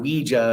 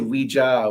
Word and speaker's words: Ouija: I go with the traditional French pronunciation. Because it's oui for French for yes, and ja, which is yes.